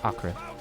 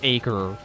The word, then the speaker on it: Acre: had and apparently yes it is it is pronounced Acra so rather that it's not acre run forever I'll HT you down my daring